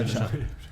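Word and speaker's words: Apchat: Apcha, on est sûr. Apcha, c'est bon. Même si on ne sait pas tout le temps où c'est, mais on sait que c'est ça, c'est Apcha.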